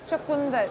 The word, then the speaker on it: chakunda: Chakunda.